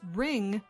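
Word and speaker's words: wring: physical action called ringing that is ring beginning with a silent W the dictionary publisher Miriam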